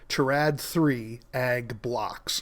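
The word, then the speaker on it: Terad3 Ag Blocks: product, which was specifically Terad-3 ad blocks. So let me repeat that again because I mispronounced it. Terad-3 ag blocks.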